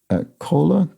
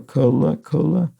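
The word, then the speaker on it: Kölle: Locals also call the city Kola, K-O with an umlaut L-L-E, or Kola, as rhyming with Hola, German for hell.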